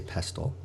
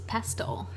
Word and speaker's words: pestle: And because we're in her home, she took out a mortar and pestle, or do you say pestle? I believe it's pestle. It's actually supposedly pronounced pestle, even though it's spelt pestle.